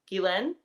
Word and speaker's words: Guylaine: Pronounced Guylaine. Is it Len? Guylaine with the stress on second syllable.